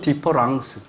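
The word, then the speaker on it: différance: 자, 발음의 차이가 있나요, 없나요? 없지요. 그럼에도 이게 두 개가 같은 건가요, 다른 건가요? 다른 거죠. 이런 말은 원래 프랑스 말에 없어요. 만든 거예요. 요거 E를 A로 만들었어요. 장난친 거죠. 근데 발음은 같아.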